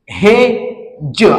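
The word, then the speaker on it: hedge: वाचन करायचा आहे त्याच्यानंतर पुढचा एक्झाम्पल आहे हेच हे ज अशा प्रकारे आपला वाचन करायच आहे आणि याचाडी आहे तो सायलेंट ठेवायचा आहे लक्षात घ्या तर हेडज असं वाचन करायचं नाहीये त्याच्यानंतर पुढचा जो एक्झाम्पल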